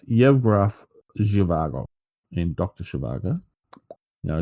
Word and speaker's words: Yevgraf: Prince Faisal in Lawrence of Arabia, and General Yevgav Zhivago in Dr. Zhivago. Yeah, we don't have the DJ. How are we going to know how to pronounce things? Yes. So it's Yevgraf Zhivago in Dr.